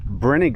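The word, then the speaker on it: Brinegar: All right, let's go check out the Brener cabin. I keep telling him I think it's pronounced like vinegar.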